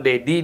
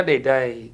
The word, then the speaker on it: Deday: Bacanya Dede. Enggak, karena di Batuyang itu kan bahasanya agak melemet ya. Melemet Dedai. Ya, bukan Dedi dia, Dedai jadinya.